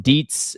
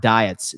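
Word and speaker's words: Dietz: I don't mean to be that guy, but it's pronounced Deetsz, not diets.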